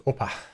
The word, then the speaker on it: OPA: opa is um or i don't know how you pronounce it it's the opa or is it over according to the docs is oppa yeah oppa so that